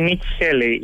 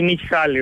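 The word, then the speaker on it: Nikki Haley: Ναι, η Νίκη Χέλη, λοιπόν, ή η Νίκη Χάλη, όπως το προφέρουν, ναι, ναι, το προφέρουν με δύο τρόπους.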